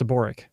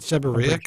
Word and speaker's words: seborrheic: No, the H is silent. It's seborrheic. Isn't it seborrheic?